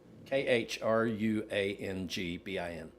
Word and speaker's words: Khruangbin: But, it's I mean, it's impossible to pronounce. k h r u a n g b i n Oh, I may have actually seen it